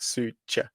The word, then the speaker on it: Szűcs: entry it's like a it's like a CH sound at the end so you goes Sue like almost like Ronaldo goes Sue yeah you know Sue and then CH like Su ch yeah that's Corner okay